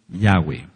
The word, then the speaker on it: Yahweh: y ya vimos porque el nombre correcto es yahw Ahora hay mucha controversia